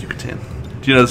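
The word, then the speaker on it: Yucatán: it's totally a say-so Yucatan yeah no it's pronounced Yucatan do you know the spell Peninsula I'm all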